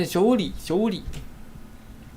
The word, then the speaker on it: Zhongli: Zhongli bacanya Zhongli.